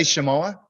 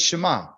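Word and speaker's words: שמע: say uh did he he didn't say shamoa he says Shema see shimoa means they're currently listening right so it's just different how you say it so the O lets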